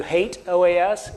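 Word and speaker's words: HATEOAS: hate OAS I know some of you may pronounce that differently but you're wrong I've worked on a product called OAS in the past and I can tell you hate OAS is the right pronunciation bringing the Hal browser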